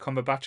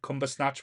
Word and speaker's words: Cumberbatch: his name now because remember when this first came out all the different pronunciations or we everyone used to say it used to be cumber snatch bu buber stats oh po Benedict no one knew how to see it at the start